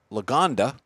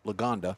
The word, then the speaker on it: Lagonda: next one is an Aston Martin Long uh Lagonda it's an all-terrain spell that Mike Lagonda l-a-g-a-n-d-a you got it which is the name